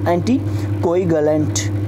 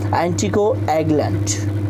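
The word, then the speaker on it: anticoagulant: यहाँ पर है जो अपन इंडियंस तो बोल देंगे इसको एंटी कोई गलेंट, जबकि ऐसा नहीं है, ये है एंटी को एग्लेंट। एंटी को के बाद आपको थोड़ा सा रुकना है, एग्लेंट ये इसका प्रोनाउंसिएशन है।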